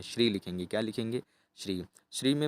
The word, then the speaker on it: श्रीं: श्री में माँ की बिंदी भी लगाई जाती है, तो इसको हम पूरा पढ़ते हैं उच्चारण, तो श्रीम का ही उच्चारण करेंगे।